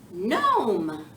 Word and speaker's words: gnome: say it with me no it's spelled G in Oh M e but don't ask me why the G is silent because I have no idea oh don't shuffle your